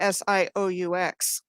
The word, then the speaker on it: Sault: going to focus on this is called the sioux which is how he got an interview named sue so johnny cash but it's it's spelled the french way it's s-a-u-l-t in both michigan and in ontario do you think that's